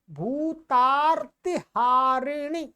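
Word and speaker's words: भूतापहारिणि: गते देवी कालरात्रि नमोस्तुते ये क्या है भूता भूता आ के बाद में र आएगा भूता हारिणी चलिए जयम देवी चामुंडे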